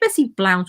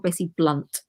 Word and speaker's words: Bessie Blount: Fitzroy he's illegitimate some Is it Bessie Blount or Bessie Blunt I've heard it pronounced both ways I've heard both and